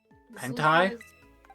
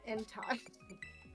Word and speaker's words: Entei: Hentai? Entei. Look, it's spelled like that. It's not mine. It's not. It's spelled with an E.